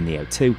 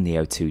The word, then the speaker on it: Neo-2: state-of-the-art carbon capture prototype, the Neo-2, apparently named that due to rhyming with CO2, and procure a solid